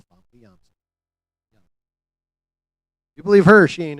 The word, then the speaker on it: Famke Janssen: Although, if you do believe Famke Janssen, and that is how her name is fucking pronounced, by the way, it's not Famke Janssen, it's Famke Janssen.